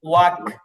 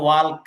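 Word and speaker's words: walk: তো এখানে অনেকে এরকম উচ্চারণ চলে আসে ওয়াল্ক, ওয়াল্ক, এখানে ইয়াল উচ্চারণ আসবে না, ওয়াক ওয়াক।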